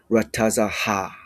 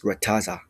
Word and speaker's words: rataza: Rataza, again closed syllable, closed syllable marking between the taza and the ha, meaning you do not say rataza ha. It's rataza.